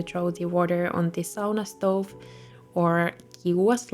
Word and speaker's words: sauna: nails and going to sauna. And yes, that's actually how you pronounce it in Finnish, not sauna.